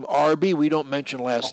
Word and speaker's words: Arbi: name your first name rb we don't mention last names uh rb is that what you pronounce it that's exactly it kind of like the sandwiches okay mine's lee and